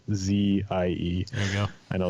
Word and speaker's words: Litze: My last name is Litze, Litzzie.